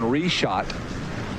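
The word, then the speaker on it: Richotte: R-E-S-H-O-T. Reshot. That's the way I'm going to spell it in my head. R-E-S-H-O-T. Yes. Reshot. But it's not spelled like that. It's spelled R-I-C-H-O-T-T-E apostrophe the number 4 and the symbol for boron.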